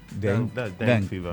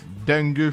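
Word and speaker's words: dengue: gu u e f is not D fever D fever D fever no say dang fever somebody say d fever dang dangu fever yeah so this is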